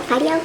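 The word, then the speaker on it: fideo: Is it wait, F-I-D-E-O? Yeah, it's Fido, like the dog, Amy. Rough, just like you and your husband. Oh, Fido pasta?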